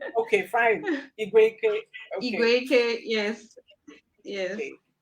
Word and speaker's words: Igweikwe: But it's pronounced Igweike. Igweike. Okay, fine. Igweike.